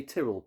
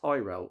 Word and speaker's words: Tyrell: in the UK U most people say trell but he pronounces it Tyrell on the videos uh this is a